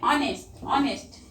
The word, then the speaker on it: honest: Then honest. H-O-N-E-S-T. Honest. You read honest. H is silent here.